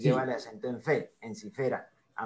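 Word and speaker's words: Ensifera: encifer sí correcto sí y pronunciaron en cera o en sifera no no en cera dijimos en sifera entonces debe ser debe ser en sifera es palabra grave la penúltima sílaba fe termina en bocal abierta entonces la sílaba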